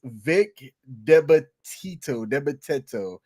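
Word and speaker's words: Vic DiBitetto: Yeah, that is Vic Debateto. How Yeah. do you say it? You're from that area. How do you say it? Yeah. Yeah. Well, hold on. Scroll back up. Vic the better though.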